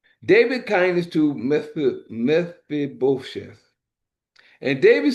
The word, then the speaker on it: Mephibosheth: It's Meph, Aibos, Heth, Sheth, Bosheth, Mephibosheth. That's the best way I'm saying.